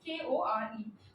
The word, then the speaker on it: Kore: It's pronounced as Kore.